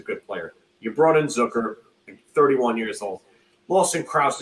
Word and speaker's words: Zucker: always hear it's called I always hear him pronounce zuker not Zucker but it I it's Zucker yeah oh it's Zucker that's how I've heard